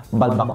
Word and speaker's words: Balbacua: It's pronounced actually as Balbacua. Balbacua. So, Balbacua. Yun ang social ba? Kwa. Balbacua. Pero it's Balbacua. Yun na ang pag-pronounce sa mga Bisaya, Balbacua.